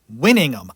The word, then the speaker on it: Winningham: And I always say her name wrong. Winningham? Hold on. Mayor Winningham.